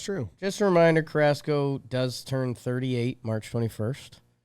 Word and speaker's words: Carrasco: K-U-H, all caps, Raz. Carrasco. And then Co with a K.